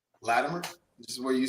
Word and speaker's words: Latimer: talk to another Latimer. And so how do you say your last name? Latimer, which is where you say Latimer. I say it with a it almost sounds like a D.